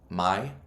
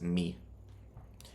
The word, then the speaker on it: mi: So M-I isn't my, it's me. M-E is me. A lot of people, they'll say me gusta. That you sound like a pure gringo if you say that. It's me gusta.